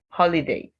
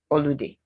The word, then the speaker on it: holiday: The I doesn't give an oo or oo sound. So you say holiday, not holiday.